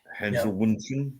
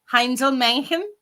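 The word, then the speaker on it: Heinzelmännchen: Hensel Wunschen, is that how it's pronounced? I can't pronounce it, but the A with the umlaut I think is more a E, like Männchen, Heinzel Männchen.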